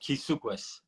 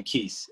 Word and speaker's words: Keeys: name God all right my name is pronounced kukis but nobody will ever know how to pronounce that except for my family so you can call me keiss everybody calls me Keith